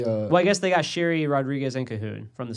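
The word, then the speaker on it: Sheary: Sherry? It's pronounced Sherry, like my mom's name.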